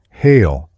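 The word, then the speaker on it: hele: all this within itself this word is often spelled as it is pronounced hail but it is properly the Anglo-Saxon word hel hell is derived from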